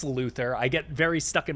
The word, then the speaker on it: Luthor: I say Luthor, it's Luther.